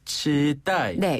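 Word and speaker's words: 期待: 표현을 중국어로는 치라고 합니다 치따네 요게 이제 한자 그대로 그 발음을 따서 중국식으로 치라고 하는데요네 기대라는 글자를 중국식으로 읽으면 치따이에요 어 기대가치 치따 그렇죠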